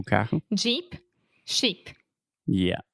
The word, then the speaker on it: Jeep: Jeep, sheep. Yeah. So sheep, ovelha, has the SH sound, sheep. And then Jeep has the Jeep.